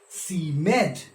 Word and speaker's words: seemed: we we call it seemed charmed correct seemed charmed you'll find these words in this poem but the victorians didn't pronounce it as seemed or charmed they pronounced it as c med charmed so here you can